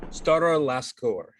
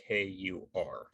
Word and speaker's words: Starilaskur: Screw it, I'm the DM, however pronounce things correct, right? Yeah. Stara Laskur. It's Starilaskur.